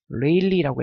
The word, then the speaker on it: 레일리: 톰슨 산란하고 레일리라고 읽어요.